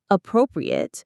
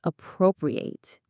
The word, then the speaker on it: appropriate: And one important note, the pronunciation changes. The adjective is appropriate while the verb is appropriate.